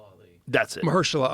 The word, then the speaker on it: Mahershala: I'll fuck his name up if I pronounce it. Sorry. What is it? Sorry, while I'm working. It's Marshall Ali. That's it. Mahershala Mahershala Ali.